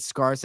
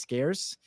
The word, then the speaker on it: scarce: him I was just like uh he said scarse I was like I'm pretty sure that word is pronounced scarce and then he just went he leaned right